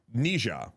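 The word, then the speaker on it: 哪吒: right now is um I'm gonna say the Americanized version of the name, not um I I we had guests in the podcast to tell us how to say it correctly uh in in Chinese. Uh but like I I can't do it. Uh so it is uh Nija.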